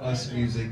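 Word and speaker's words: USMUZIQ: I said I'm one half of the group Us Music. That's spelled U-S-M-U-Z-I-Q.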